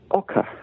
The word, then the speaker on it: oca: one which is um a vegetable called Oka which is spelled OCA I'm only trying it myself